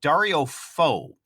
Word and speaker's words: Dario Fo: In the show notes, we've also provided a link to a YouTube example from Dario Fo. I hope I've pronounced that right.